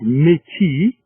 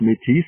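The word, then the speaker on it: Métis: the indians in fact the word miti or sometimes pronounced mitis either way is acceptable the french indians pretty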